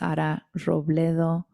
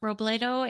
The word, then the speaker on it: Robledo: name on Facebook or under my name s roblo which is a little hard to pronounce I know in English r o b